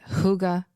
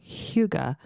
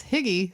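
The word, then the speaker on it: hygge: you can pronounce it Huga or Huga but you should be pursing your lips a little bit Huga Huga H I thought it was higgy so I was way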